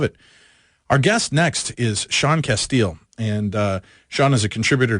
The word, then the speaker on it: Casteel: Am I pronouncing that correctly, Sean? Yes, you are, Sean Casteel.